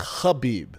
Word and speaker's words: Khabib: D Scott says, "FYI, Khabib is pronounced Khabib. The K is silent. Just letting you know, Big Brown." All good. I'll call him Khabib.